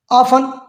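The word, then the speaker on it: often: अच्छा, अब इसमें देखें, ऑफन एफ के बाद टी है तो साइलेंट बोल दिया, लिसन में एस के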